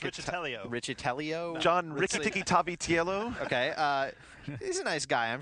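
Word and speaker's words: Riccitiello: ever that was awesome i believe it's richard richtellio he's a nice guy i'm sure i just don't know how to say his name uh ricatello ricatello got it uh so he was uh he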